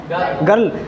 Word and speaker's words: girl: हो, ये क्या है, ये GIRL क्या है, गर्ल, जबकि फॉर्मूला क्या कह रहा है कि इसका जो प्रोनाउंसिएशन है वो क्या होगा, जा, तो ये तो जर्ल हो रहा है ना, तो नहीं पढ़ सकते ना, तो क्या पढ़ेंगे इसको, गर्ल।